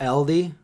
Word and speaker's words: Aldi: Linda is that LD I found that that's the real way to pronounce it LD LD because first it was all these then it was all D and now its LD okay wear it out it was always Aldi but that's the progression